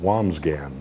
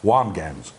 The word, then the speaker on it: Wambsganss: Wamgans, all right, Wamsgans. It's spelled really funny. Trust us on that. It is Wambsganss, Wamgans.